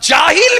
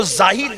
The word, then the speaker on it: جاہل: کو دیکھا ہے کہ جو یار جاہل بھی صحیح نہیں کہہ پاتے، کہتے وہ تو زاہل ہے۔ یہ حال ہے، ایسے لوگ جو جاہل کا تلفظ بھی صحیح نہیں، وہ زاہل کہتے، ان کو بھی خلافت